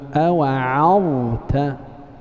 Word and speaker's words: أوعظت: Nah, الكلمة الثالثة إذا قرأت قوله سبحانه أوعظت لابد من تبيين الضاء من التاء، وكذا ترقيق العين.